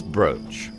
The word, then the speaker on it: brooch: Google rich brute it is broach but it says it can also be manaus pronounce brooch oh my god we're